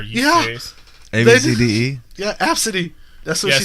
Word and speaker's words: ABCDE: Yeah, Absidy.